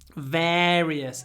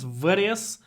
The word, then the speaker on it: various: on their podcast various it starts with this the same word that we have in parents people usually just say par par various it's not various very various very various very is just an A but various is a double sound verious various very various very various it's a slight difference and in this context